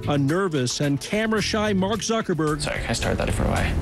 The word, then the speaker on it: Mark Zuckerberg: his Harvard dorm a nervous and camera shy Mark Zuckerberg sorry I started that away Mark can you just say your name and pronounce it so Nobody messes it up and